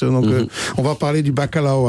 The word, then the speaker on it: bacalhau: Donc on va parler du bacalhau à Brás. C'est bien prononcé, là c'est le L est mouillé, c'est liao. Bacalhau.